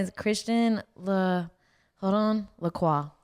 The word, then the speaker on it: Lacroix: christian the hold on lacroix that's how you say it but it spelled like la croix like the drink um and it's christian